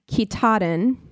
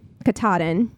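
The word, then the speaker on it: Katahdin: this out phonetically, uh, Kitaden, Kataden, that's it, Mount Kataden in Maine, and passing through 14 states.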